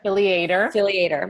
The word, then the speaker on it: Filliater: Filliater.